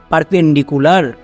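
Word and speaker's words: perpendicular: রুলে আছে মনে রাখবা এখানে কিউ হবে না এখানে সি ইউ এর জন্য কু হবে নেক্সট এল এ আর লার তাহলে কি দাড়ালো পারনডি কুলার এবার একসঙ্গে উচ্চারণ করো পারপেন্ডিকুলার সো বড় থেকে যতই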